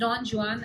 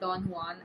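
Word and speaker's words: Don Juan: Then he also road डॉन जुान which is एन unfinished master piece but it's pronounced डॉन जुान एंड नॉट डॉन हवान as further legend.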